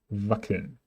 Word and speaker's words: wackeln: CK remains K. Wackeln. Wackeln. DT ist T.